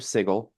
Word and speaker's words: Sigil: Uh so to set the scene, the uh the city of Sigle, which is a pronunciation that I will have to get used to, uh it is a very dense city.